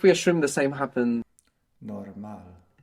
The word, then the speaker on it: normal: between normal and normal well the accent the stress at the end normal and what do you mean by the accent well the well where does sound is stressed which vowel it's stress where's it stressed in English on the o good at the beginning right normal normal and in Spanish we're stressing the end right normal normal um